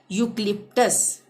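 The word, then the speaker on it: eucalyptus: यहाँ पे ई यू आ रहा है तो यहाँ पे इसका उच्चारण क्या हो जाएगा, यू। यूक्लिप्टस, यूक्लिप्टस, यूक्लिप्टस क्या होता है, नीलगिरी वृक्ष, नीलगिरी का पेड़।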